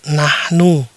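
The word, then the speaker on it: نحن: Ya, dibaca "nahnu." Artinya "kita," ya, "nahnu." Jadi kita tahu cara membacanya.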